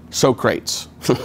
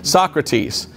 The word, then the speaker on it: Socrates: to a man named sokrates no that's not how you say it socrates and socrates was one